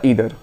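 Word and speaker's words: either: ठीक है, तो ईदर कुछ लोग इसको आइदर भी बोलते हैं, तो आप इसमें कुछ भी बोल सकते हैं, प्रोनाउंसिएशन में बहुत ज़्यादा टेंशन लेने की जरूरत नहीं होती है, वो डिपेंड कर जाता है एसेंट पे।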